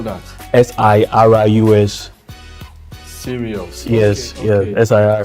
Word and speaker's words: Sirius: So that's why So how do you spell that? Sirius.